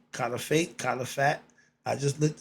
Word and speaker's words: caliphate: I want to know what that was okay it's spelled c a l i p h a t e kif fate kif fat I just looked it up I